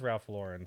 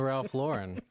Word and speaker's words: Ralph Lauren: It's not real gold, but it is Ralph Lauren, so I got a Ralph Lauren necklace and